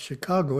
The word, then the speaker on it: Chicago: Tamil speakers stumped why it's pronounced Chicago. It's pronounced Chicago because it's an American Indian word. So not English, French, or German.